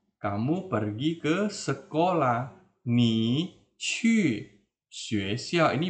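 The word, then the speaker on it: 去: Kalau lupa ingat kembali di video Lao Shi tentang Hanyu Pinyin ya, ini bacanya qu bukan cu ya. Nah, bukan dibaca cu atau ku ya, salah.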